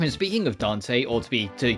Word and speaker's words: Dante: andan speaking of Dante or to be to to pronounce the name properly Dante um I have and